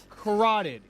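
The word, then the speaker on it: carotid: with the I can I always say this wrong. Corateed corateed artery. You said it right.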